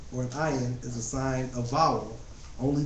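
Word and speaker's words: ע: While aleph is indeed silent, the consonant ayin does have some phonetic value. For English speakers, however, the pronunciation of ayin is so subtly nuanced, for all practical purposes, we are considering it too as silent.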